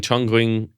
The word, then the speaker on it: Chongqing: Uh so in Chonging, I think that's how you say it. Chongqing in China, every Friday and Saturday morning, hundreds